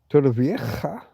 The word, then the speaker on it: Torrevieja: Torrevieja, if you're going to say it properly.